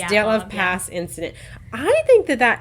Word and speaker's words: Dyatlov: Dyatlov. Yes, It's Dyatlov Pass incident.